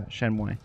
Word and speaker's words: Shenmue: Is that how that's pronounced? Shenmue? Yeah. Yeah, Shenmue.